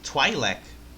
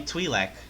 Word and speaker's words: Twi'lek: the point really oh it's pronounced twi'lek I almost thought it was supposed to be twi'lek sorry let's see here